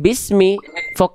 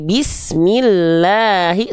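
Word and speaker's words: بِسْمِ اللّٰهِ: Bis bism jangan bismi. Kalau ada baris bawah dibacanya e bunyinya apa, Dedek Eli? Kalau ada baris bawah nih dibacanya A, I atau U. I. I. Berarti jelaskan I-nya naikin e tengah li tengah lidah. Nah, jadi I.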